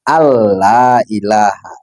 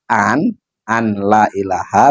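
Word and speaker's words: أن لا إله: Maka dibacanya kan alla ilaha. Nah, kalau dibaca an an la ilaha maka ada idgham di situ yang hilang. Nah, ini tidak diperbolehkan karena di sini wajib menjaga tasdid-tasdidnya dan tidak boleh mengganti huruf.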